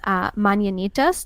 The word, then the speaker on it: mañanitas: And so I'm concerned about our pronunciation because I know the word mañana means tomorrow. But I believe that the way this is pronounced is mañanitas.